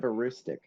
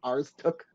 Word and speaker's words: Aroostook: They keep saying it like ours took or something like that. Well, I mean, I kind of understand why though, because like we don't pronounce it very much like how it's written.